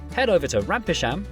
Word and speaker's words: Rampisham: Starting in Biaulio, Bewley, head over to Rampisham, Ransom, then down to Mousehole.